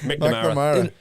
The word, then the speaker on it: McNamara: McNamara. Some people pronounce it McNamara because that's an Irish poet as well though, isn't it?